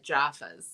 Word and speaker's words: Jaffa: My favorite candy that I was sent was the Jaffas. Oh, yeah. The chocolate orange. Yeah, I love chocolate orange, and then the crunchies. You got to say it like an Aussie, though. It's a Jaffa.